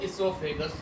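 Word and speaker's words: oesophagus: बेटा यहाँ पर ओ साइलेंट है, इसलिए इसको इसोफेगस कहा जाता है।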